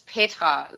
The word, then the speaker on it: Petra: In Germany, it's Petra. Like, the R is really rolled, and it's, very short.